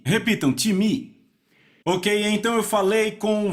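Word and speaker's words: τιμή: em português pronunciamos talvez time não se pronuncia dessa forma em grego se pronuncia time repita um time Ok então eu falei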